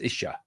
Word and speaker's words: Isa: The ISA it's spelled, but sometimes I believe it's pronounced Isha, which is a Sanskrit word that means Lord in Sanskrit.